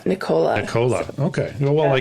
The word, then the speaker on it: Nichola: Nicola. It's actually, you can say it Nicola. Yeah. Nicola. Is that the actual proper way you say it? That's the official, Nicola.